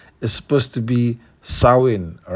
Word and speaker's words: Samhain: mention that I realized the pronunciation for this creature's name is not actually Sam ha is supposed to be sawin all right I think